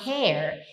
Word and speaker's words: hair: Her hair. E cabelo, Brasil, é como se você pronunciasse assim, ó. Hair. Tá vendo que então o primeiro é her, é fechado. O segundo é hair é aberto.